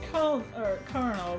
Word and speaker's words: colonel: We pronounce colonel with an R because we borrowed it from Middle French, and Middle French pronounced and spelled it with an R. So even though it's spelled with an L, we say it like we're French, apparently.